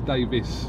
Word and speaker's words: Davies: world champion technically he's Davis yeah he's Davis but it's all pronounced the same it's all pronounced the same even though it's spelled a bit different it's all pronounced the